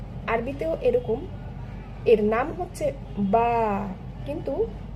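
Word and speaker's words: ب: এ বি বা ঠিক আরবিতেও এরকম এর নাম হচ্ছে বা কিন্তু এর সাউন্ড হবে বা এবং এটি হেভি সাউন্ড নাকি লাইট সাউন্ড? এটি হচ্ছে লাইট সাউন্ড। অর্থাৎ পাতলা করে পড়তে হবে।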